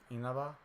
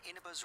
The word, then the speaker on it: Inaba: It's like halfway between the soft I and the E.